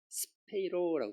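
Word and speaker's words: σπείρω: 왜냐하면 디아는 퍼지다는 뜻인데 이 뒤에 스페이로라고 돼 있어요. 이게 헬라어로 스페이로라고 읽어요. 여러분 스페이로가 영어로 스페이로 이게 잘못 읽으면 참새가 되지만 헬라어로는 이 스페이로라는 뜻이 씨 뿌려졌다는 거예요.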